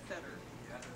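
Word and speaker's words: Fedor: And it's pronounced Feder, but it's spelled F-E-D-O-R.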